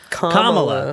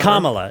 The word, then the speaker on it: Kamala: Kamala. I was just trying to remember. It's like, wait, I've always pronounced it correctly. Which way do you pronounce it? It's like Kamala. Kamala.